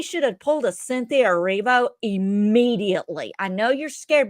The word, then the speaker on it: Erivo: Cynthia Riva. Cynthia Erivo sprinted quicker than the gosh damn security.